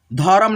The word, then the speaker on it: धर्म: ये जो रेफ की मात्रा है ना जिस अक्षर पे लगता है उसके पहले ये उच्चारण होता है, लेकिन आधा अक्षर है ना तो आधा ही हम लोग उच्चारण करते हैं धर्म। धर्म नहीं पढ़ेंगे, जैसे यहाँ पे देखना ध र म धर्म ऐसे नहीं पढ़ते हैं, ठीक है, धर्म ऐसे पढ़िएगा।